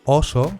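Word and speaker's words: óso: <o> suelen ser cerradas: Por ejemplo, oso con “o cerrada” es oso, mientras que ɔso con “o abierta” es hueso (se escribe con tilde para diferenciarla).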